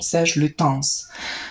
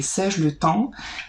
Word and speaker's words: Serge Lutens: This is Santal Majuscule from Serge Lutens. Sorry for mispronouncing the name in some of my videos. I was so confident that I'm saying it correctly, Serge Lutens, but actually it is Serge Lutens.